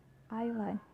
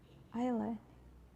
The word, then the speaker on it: island: For the letter S, it can also be silent. For example, island, island, debris, debris, aisle, aisle.